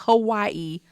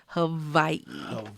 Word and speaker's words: Hawaii: very particular with pronunciation it's not Hawaii Havi Hai yes unlike my